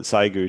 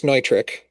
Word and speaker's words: Neutrik: but I always feel obligated to call it Zygu too because that's what everybody refers to it. And then if you go over to the UK, everybody calls it Zigu.